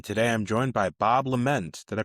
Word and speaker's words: Lement: I'm your host, and today I'm joined by Bob Lament. Did I pronounce that right?